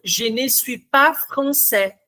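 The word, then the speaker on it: français: Quando a gente pronunciou je francê, vocês ouviram esse s final? I ou não?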